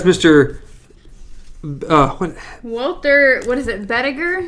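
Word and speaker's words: Bedeker: Walter, what is it, Bediger? Bediger, that's how you pronounce it.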